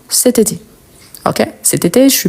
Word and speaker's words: cet été: ici il y a une voyelle donc on va faire la liaison et on dit cté C été donc cet été on prononce tout ensemble cet été OK cet été je